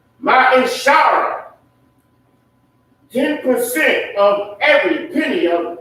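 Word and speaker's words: מעשר: Malachi 3:8-10 means 10th in the Hebrew and is pronounced Ma'ishara.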